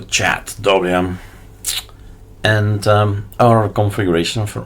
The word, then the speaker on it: chadwm: CH or chat WM somebody told me recently I shouldn't spell it out CH h a dwm so chat WM and um our configuration